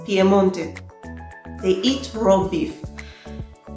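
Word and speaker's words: Piemonte: it is called piedmont in italian it's pier pmonte they eat raw beef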